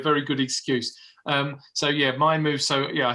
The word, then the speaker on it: MiMove: MiMoves. Okay. It's called MiMove. We spell it M-I, so you're not the first person to call it me.